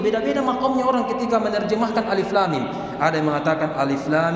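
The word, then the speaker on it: الم: Alama.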